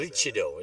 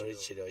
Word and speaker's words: Maroochydore: about Marichido, isn't it? That's how you say it? Maroochydore. Maroochydore.